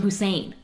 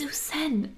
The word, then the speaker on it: Hussein: name's husen but everyone calls him Hussein and which is like you know there that is a pronunciation of the name and so in different meetings people are like yeah Hussein said he's going to do this and I'm just like it's usen like I know it's usen